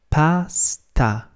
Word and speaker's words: pasta: word Pastor is pastor but in Italian is pronounced Pasta Pasta so there's just as much emphasis on the second a as there is on the first one so if you know